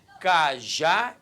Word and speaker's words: cajá: Cajá e casa. Primeiro passo para eu acentuar uma palavra, qual é? Descobrir a sílaba tônica. Quando eu falo cajá, repare que a sílaba tônica é a última.